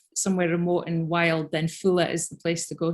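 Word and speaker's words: Foula: Nikki says, when I visited, I really wanted to go to Fowler. Is that how you pronounce it? Fula. Fula.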